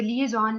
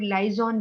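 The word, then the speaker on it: liaison: ये वर्ड जो है इसको आप प्रोनाउंस करें लिएजन, जैसे या इसको लिएजॉन लोग ज्यादा बोलते हैं। तो लिएजॉन का मतलब है कनेक्ट करना लोगों को, ठीक है। आपने, कुछ लोग लाइजॉन भी कह देते हैं इसको, लाइजॉन डिपार्टमेंट भी कह देते हैं, कनेक्टिविटी, ठीक है। बट द करेक्ट प्रोनाउंसिएशन है लिएजॉन, यानी लोगों को आपस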